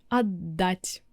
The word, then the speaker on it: отдать: So that's why т becomes д and you kind of pronounce double д.